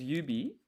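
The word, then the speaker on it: 指: And this is yubi, but it's there's no two U's. It's just one. Yubi.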